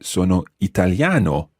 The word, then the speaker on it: italiano: Now, if I were Italian, I wouldn't say sono italiana, I would say sono italiano, with an O sound at the end as opposed to an A sound.